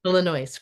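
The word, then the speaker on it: Illinoise: co-production of is it Illinois how do you pronounce that Alexi Illinois yeah Illinois great so I think you're our first Tony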